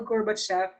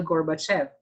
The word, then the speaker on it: Gorbachev: So sino na naman yan si Mikhail Gorbachev? So in Russian kasi siya, letter V is pronounced as F. So hindi siya Gorbachev, kundi Gorbachev.